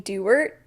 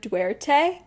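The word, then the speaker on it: Duarte: main character's last name I was saying Dart instead of dwte and also geese instead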